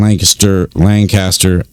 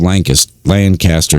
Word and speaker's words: Lancaster: there's a town and it's called Lancaster here. So everybody that lives in that city calls it Lancaster. And if you call it Lancaster, which is the way, you know, you would pronounce it, then they know you're not from that city. You're an outsider. They know that because if you say Lancaster instead of Lancaster, and it's just kind of mixing it together.